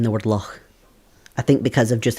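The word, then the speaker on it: loch: The ch is a the lock. The C is a much more softer sounding letter within Scots.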